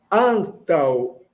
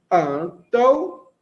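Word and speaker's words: antaŭ: Antal, antal, antal. É assim que a gente pronuncia. Antal. Lembrando que esse U com a braquia é o fraquinho, não é? É o de náutico.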